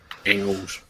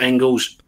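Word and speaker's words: Engels: it in my head the G in German is pronounced as K so that's where my pronunciation came from but I'm reliably informed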